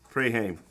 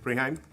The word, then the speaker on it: Preheim: the first one is preim preim I hope I pronounced it correctly preheim preheim yeah okay hello my name